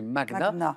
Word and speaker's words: magna: oui ça c'est oui en français on entend souvent Mania et en fait on doit le prononcer comme sur comme pour Magnus donc c'est magna même si on l'entend